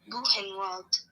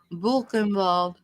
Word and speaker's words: Buchenwald: Buchenwald. Buchenwald. My dad always. Buchenwald. My dad always pronounced the W's like V's.